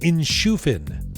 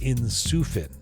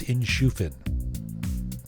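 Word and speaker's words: Inshufin: and investment feels fields in shufin which is kind of spelled like in sufin interesting but it's in shufin think of in-shoe fin I don't know got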